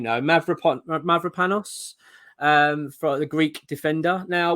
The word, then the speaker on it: Mavropanos: Right, I've got to try and pronounce this name now. Mavropanos, for the Greek defender.